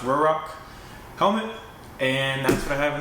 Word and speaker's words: Ruroc: how you pronounce it I think it's officially pronounced roar Rock come in and by